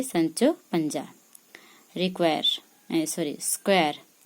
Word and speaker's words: Sancho Panza: Sancho Panza how to say the name say Sancho Panza require a sir a square a assistant to